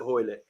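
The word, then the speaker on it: Hoilett: Justin Hoylett, sorry. Rhymes with toilet. I've got to remember that now. I was butchering his name earlier in the show. I was saying Julia. Rhymes with toilet, Hoylett.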